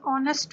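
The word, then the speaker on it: honest: एन ऑनेस्ट मैन, ऑनेस्ट की spelling भी अगर आप देखें तो एच ओ एन ई एस टी, ऑनेस्ट, ये एच से स्टार्ट हो रहा है, लेटर एच से, लेकिन ये साउंड जो है वो ऑनेस्ट की ओ साउंड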